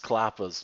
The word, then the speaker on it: Qappas: fog picking in the map klappas oh it's pronounced klappas my pal Vince quarantine kalapas thank you for